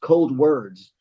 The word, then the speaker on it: Coldwards: I ever did I I was calling the band cold Wards so um but then I was kind of like man I like I think we should change it to be pronounced cold words because it's a direction towards the cold and um towards those